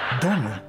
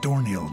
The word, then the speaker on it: Domhnall: Domhnall Gleeson, not Dorniel Gleeson.